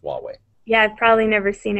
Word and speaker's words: Huawei: a to aw e I wait that's uh Huawei Huawei okay I believe so because they're yeah